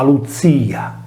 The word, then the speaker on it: Klutìa: Nella linguistica antica solitamente la consonante sorda iniziale che precedeva la liquida, in questo caso la C che anticipa la L, non veniva pronunciata e serviva per rafforzare la stessa liquida L, per cui la parola greca glutia diventava luzia.